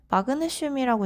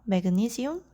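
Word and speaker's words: magnesium: 그런데 마그네슘이라고 읽는게 아니라 메그니시움 이렇게 읽는 거였어요.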